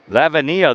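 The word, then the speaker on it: Lavenia: Lavnia. That could be how you pronounce it. L A V E N I A. Lavia. Lavvenia, they're telling me. Okay. So, we're going to go with La Vania is the new pitcher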